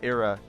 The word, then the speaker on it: era: of chance right or as you said era rhymes with Nera because the r at the end of nerer as I would say it in an American accent is not really there right it's uh nonic RS is nura uh yeah and